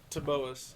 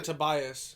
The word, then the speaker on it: Taboas: Taboas. Taboas. Okay. Taboas. See, I was wondering Everyone pronounces it wrong. They add an invisible I. Taboas. No, they say Tobias.